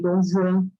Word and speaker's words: Dom Juan: Dom Juan, por exemplo, eles não dizem Dom Juan, eles dizem Dom Juan, porque escreve com J, e a pronúncia do J em francês é Jean, então eles falam Dom Juan.